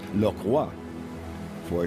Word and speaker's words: Lockroy: base of Port Lockroy it really should be pronounced look what for it was Jon batiste